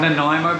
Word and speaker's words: Nanaimo: Nanaimo bar, is that how you say? Yeah, that's how you say it. Nanaimo bar.